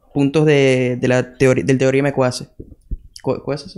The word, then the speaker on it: Coase: ¿Coase se pronuncia?